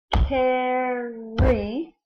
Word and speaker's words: carry: So our first syllable looks like car, but it's not car. It's actually the A saying ah, and the R saying rrr.